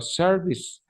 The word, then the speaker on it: service: please service service service la e no se pronuncia y la c viene a convertirse en una s Por eso digo service the services ahora en